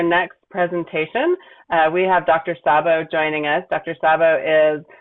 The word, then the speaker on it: Szabo: Sabo, but that's okay. It's frequently mispronounced, but that's all right.